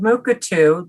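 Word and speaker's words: Mukurtu: and so this product called mukatu the r is silent allows you to set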